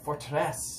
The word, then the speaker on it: Forteresse: from quebec in canada this is fortress or fortress if you get a little french pronunciation in there these guys just